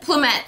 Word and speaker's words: Plumette: Plumette? Plumette, thank you. I'm like, Plume, I know I'm saying it wrong.